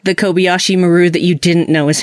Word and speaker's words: Kobayashi Maru: a simulation like the Kobayashi Maru that you didn't know is happening so excuse me it should be actually Kobayashi Maru which is the correct way to pronounce that but nobody does except the people in the